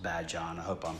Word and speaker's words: Badian: It's spelled like Badian, but the locals say, tell me that it's pronounced Badyan.